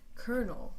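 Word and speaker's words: colonel: example kernel is pronounced kernel like kernel there is an r in the pronunciation even though there's no R in the spelling the FST below is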